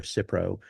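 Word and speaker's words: Cipro: And we also have I have some cypro. Is it cypro?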